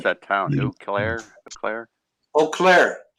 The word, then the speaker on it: Eau Claire: Eau Claire. Just Eau like Claire. a O. Yeah. Even though it's EAU or something. Right. Some French word.